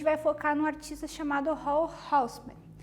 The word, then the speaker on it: Raoul Hausmann: O tema da aula de hoje é a colagem tridimensional novamente, e a gente vai focar num artista chamado Hall Houseman, pronúncia alemã, né?